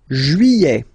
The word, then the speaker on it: juillet: Juillet. Okay, you get this double L here. Juillet, juillet. Don't pronounce this final T, E-T here at the end. E.